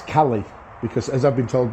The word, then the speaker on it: Caley: lot of things online about these Kelly ions pronouncing it correctly I know this is a very sort of focal point it's Cali because as I've been told by a Scottish